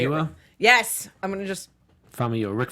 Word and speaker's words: Famuyiwa: Famuyiwa? Yes, I'm gonna just. Rick Famuyiwa.